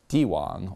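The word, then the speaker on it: 地王: sold in each City dwang or land King the moniker is pronounced exactly the same as one Chinese term for Emperor implying this piece of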